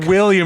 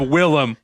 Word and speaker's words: Willam: people don't even know can't even say my name like seriously william instead of willam what the [ __